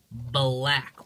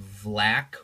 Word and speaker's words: Black: I would like to point out that that says Dr. Black with a B. I've had so many kids tell me that it's pronounced Vlack with a V. That's not true. That's not true at all.